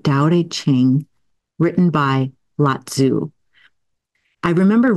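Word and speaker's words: Tao Te Ching: I think it's called I think you pronounce it Dow A ching written by latu I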